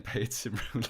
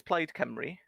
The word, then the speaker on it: Plaid Cymru: Because I'm saying Paid Cymru like a dick, and you pronounced it before. Yeah, the party is Plaid Cymru.